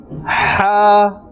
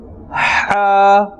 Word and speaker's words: ح: the halqiyya letters, and this is pronounced from the center of the throat, from the middle of the throat.